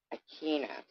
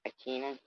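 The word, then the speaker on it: Aquinas: here's where I all right I thought Thomas achina is am I saying it right akina you know what I'm saying right a q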